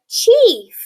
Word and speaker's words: chief: Here that I is silent and the E is making that long sound. Here we have the word chief.